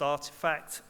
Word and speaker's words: RTFKT: with Doodles too um rtfkt pronounced artifact um now they were